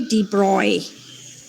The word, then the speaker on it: de Broglie: actually yeah so it's the de broglie okay dee broy okay i go back to my yeah yeah